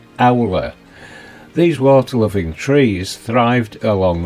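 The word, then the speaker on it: alr: Owler in old English pronounced owler.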